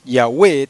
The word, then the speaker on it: Yahweh: dos prueba prueba que el nombre sagrado tiene dos sílabas no tres verdad Como por ejemplo yahwe tiene dos sílabas verdad Jehová tiene tres sílabas pues este este salmo